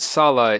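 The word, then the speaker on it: Sallah: they pronounce it Salah in the movie, so I'm just going with that.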